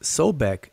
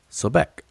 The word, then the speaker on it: Sobek: um spell out sobek they pronounce this sobek the only other alternative that that could possibly be so if it's if it's so back then that's wrong it's a crocodile deity sobek not a a dog